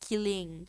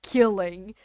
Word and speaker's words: kitten: Bro, did you know that in Danish, the word kitten, I think it's like pronounced like killing or something like that, but it's spelled like killing.